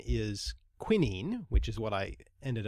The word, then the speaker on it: quinine: while my first instinct was actually to say Quinn ein and then I thought why am I saying